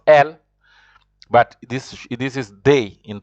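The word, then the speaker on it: elles: You pronounce ILS, il also. E-L-L-E-S also is pronounced L.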